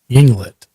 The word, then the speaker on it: Yinglet: Yinglet.